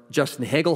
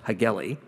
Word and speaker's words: Justin Hagel: And this is for Justin Hagel, who I, for the longest time, pronounced Hageli.